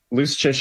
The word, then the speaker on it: Luszczyszyn: You told me loose chish. It's uh it's Polish. The C's and zeds do things that uh regular English don't like. This doesn't make sense. It's like a ch sound or whatever.